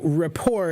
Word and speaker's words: rapport: a p o r t raor uh so Rapport is another French word and this word means